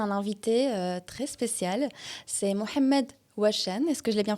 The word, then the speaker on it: Mohamed Ouachen: C'est Mohamed Ouachen. Est-ce que je l'ai bien prononcé?